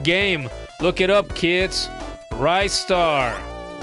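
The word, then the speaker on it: Ristar: Rightar. Spelled like it sounds. R I star together. One word.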